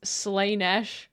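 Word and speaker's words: Slaanesh: I mean, to be fair, they do spell with two A's, it seems. Slainesh. You've been saying it wrong. I mean, there are two A's in the spelling. No, he's pronouncing it weird, but it's a madeup name. Slayish, dude, there's no way I'm call I got to call her Slenesh. It's Slay. Slay.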